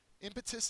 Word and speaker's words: impetus: not cannot be hurt impetus is next and this was a tough picture to try to come up with um an impetus is a noun the first syllables accented it is a moving